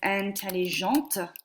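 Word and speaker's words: intelligents: If a girl is smart, she is intelligente. And if multiple people are smart, they are intelligent, which is pronounced the same as this, but we have a silent S on the end.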